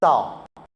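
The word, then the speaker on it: 赵: In Chinese, we pronounce as Zhao.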